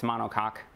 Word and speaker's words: monocoque: So what's more common is this, I had to look up the pronunciation of it, but it's monocoque, it is, and it's semi-monocoque.